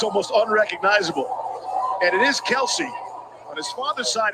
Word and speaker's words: Kelce: If we would put the split screen up, see the guys in the truck, they're putting the pressure on Kelsey. Kelsey's almost unrecognizable. And it is Kelsey.